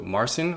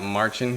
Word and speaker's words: Marcin: And that is Tim Henson and also Marcin, or Marcin, I believe is how you say his name because he's Polish.